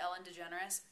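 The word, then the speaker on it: Ellen DeGeneres: of Ellen day jys I know you're supposed to pronounce it Ellen degenerous I elect not to uh Ellen degenerous um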